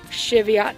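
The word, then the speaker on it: Cheviot: these are shitty aughts I try to pronounce that the right way um but if I'm not I apologize but that's how most people I know in our area pronounce it Shevat sheep I always this remember Chevy truck can go with it that way these are just spring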